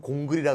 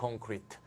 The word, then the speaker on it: 콘크리트: 콘크리트 건설하시는 분들은 공그리라 그러죠. 공그리. 자, 공그리 해야지. 자, 공그리가 아니고요. 콘크리트가 되겠습니다. 콘크리트.